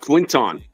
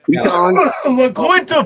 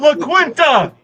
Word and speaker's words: La Quinta: Yeah, so next year it's gonna be like Quinton.